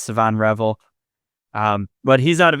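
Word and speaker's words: Shavon Revel: in the first round, my dream scenario is Savon Revel. And first of all, I'm told that's how his name is pronounced from people a lot smarter than me. I've been saying Siobhan Revel for a long time.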